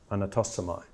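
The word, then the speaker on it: ἀνατάσσομαι: So it's say ar, na, tas, so, mai, anatosomai.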